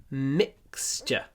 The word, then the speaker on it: mixture: Mixture. Не забудьте, что T-U-R-E произносится ч.